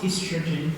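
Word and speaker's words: oestrogen: It's just the American spelling is the British spelling is O-E. But it's pronounced estrogen.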